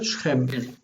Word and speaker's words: Shechem: vayelech al Sechem El Shechem. Sechem Shechem. El Shem. Remember that the shva represents the lack of a vowel. So not Shechem, but Shechem. Shechem. Accent here.